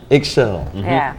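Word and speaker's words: Ixchel: It's spelled Xichl. Eggshell.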